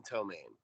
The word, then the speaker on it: ptomaine: Did you know there's a silent P in Ptomaine?